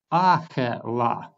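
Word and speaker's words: אָכְלָה: and it means food but the second word is read as a la and it means she ate because the second word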